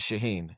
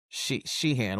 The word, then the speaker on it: Sheehan: Dodgers' current active worst pitcher is Shaheen, and they're or Sheehan, whatever. I think you pronounce Sheehan.